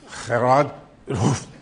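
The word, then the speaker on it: Gerard 't Hooft: Okay, so you'll have to accept my pronunciation, Gerard Hooft.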